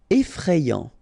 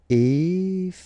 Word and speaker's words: effrayant: Effrayant. Okay, so final T not pronounced, and then you get effrayant.